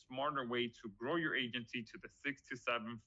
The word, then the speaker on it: AIgency: I'm introducing you today to Agency Valet. Uh the I is silent.